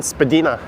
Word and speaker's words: Spadina: Oh, sorry, Susan, Spadina. That is very correct. I screwed up in the pronunciation of that.